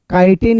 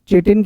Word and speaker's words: chitin: Fungal cell wall किसकी बनी होती है, काइटिन या चिटिन कह देते हैं, काइटिन पढ़ लीजिए जैसे आप पढ़ना चाहें, लेकिन स्पेलिंग जरूर याद रखिएगा, CHITIN।